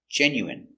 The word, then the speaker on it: genuine: i genu genuine genuine genuine first syllable stress genuine genuine genuine let's practice do you